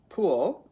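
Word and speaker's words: Pwyll: first husband was um p w l l pronounced pool in or something close to that in Welsh and she was one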